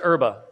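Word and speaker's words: Erbe: If you put in James White, Fritz Erba, Erba is spelled E-R-B-E, a less than 5-minute video will pop up, recorded in the Wartburg Castle in Germany in 2017.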